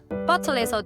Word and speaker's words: bottle: 예를 들어 bottle이라는 단어에서 T 발음을 흘리지 않고 명확하게 트크 소리를 내는 것처럼요. 또한 water에서 T 발음이 R 사운드처럼 들리는 flap T 현상.